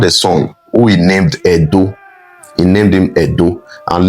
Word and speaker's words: Edo: Wherever you hear Ado or Yoruba people pronouncing Ado, they are still referring to Benin. They are referring to Edo. That's how they pronounce Edo.